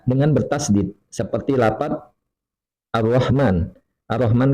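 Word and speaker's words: الرحمن: Ar-Rahman kan diidghamkan Ar-Rahman. Kemudian dia tidak baca demikian, bacanya Al-Rahman.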